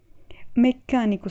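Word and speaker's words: meccanico: Mecânico seria mecânico, dá uma intensidade mais no C, porque nós temos o duplo C, né, a dupla consoante, e sempre que nós temos dupla consoante, a consoante vai pronunciada com um pouco mais de intensidade.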